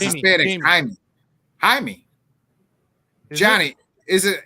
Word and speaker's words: Jaime: oh the yeah is it Jaime Jaime or is it Jamie yeah I think it's in Spanish Jaime Johnny is it it's honey it's pronounced I mean it's Jaime but they probably call him Jamie considering they probably yeah